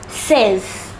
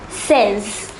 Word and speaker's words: seize: The number 16 is pronounced as seize. Say it once again, seize.